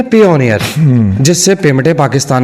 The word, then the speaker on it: Payoneer: जी जी, PayPal की तरह के, इसी तरह पेपॉल के पायनियर स्पेलिंग है इसके, लेकिन आई की जगह के ऊपर उन्होंने वाई लिखा हुआ, ठीक है। इसे ये पेयोनियर कहता है, मैं पायनियर ही कहता हूँ, ठीक है।